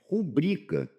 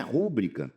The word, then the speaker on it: rubrica: É rubrica. Não é rúbrica. Não, não é rúbrica. Muita gente pronuncia errado, né?